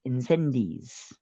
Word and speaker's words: Incendies: I believe it's pronounced Incendi.